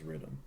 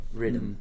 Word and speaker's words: riddim: Well, like the word Riddim is like Jamaican for rhythm. Okay. It's not really like Jamaican. It's just like, how it's pronounced. Like the vernacular. Yeah. Riddim.